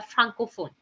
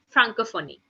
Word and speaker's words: Francophonie: Organisation Internationale de la Francophone, okay. This is a proper French, I can say that pronunciation, but it's Organisation Internationale de la Francophonie.